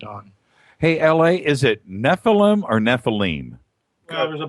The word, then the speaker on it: Nephilim: Hey, L.A., is it Nephilim or Nephilim? Well, there's a bunch of different pronunciations. Yeah. My mentor, Dr. I.D. Thomas, would pronounce it Nephilim.